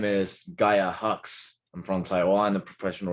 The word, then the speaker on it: Gaia Hox: Uh, my name is Gaia Hox.